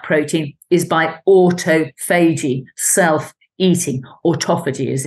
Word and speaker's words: autophagy: rid of spike protein is by autophagy, self-eating, autophagy as it's pronounced, and that is switched on by fasting.